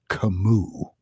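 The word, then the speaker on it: Camus: right now Albert Kimu I was calling him Albert cus for the longest time until one day I'm talking about the Stranger in class and then the the the professor goes is pronounced kamu so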